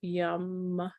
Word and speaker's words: Yam: So it's spelled like yam, but it's pronounced yum.